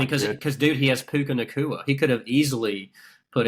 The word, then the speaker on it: Puka Nacua: How do you pronounce that dude's name? Puka Nacua. Nacua.